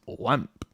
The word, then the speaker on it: OAMP: Apparently that's how it's pronounced, is WAMP. WAMP. Yeah. Personally, I would have said OAMP, but there you go.